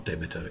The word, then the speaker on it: Demeter: story, the story of Demeter, or Demeter as a more kind of modern day pronunciation, and her daughter Kore, the maiden Kore, can be understood as an allegory of the changing seasons.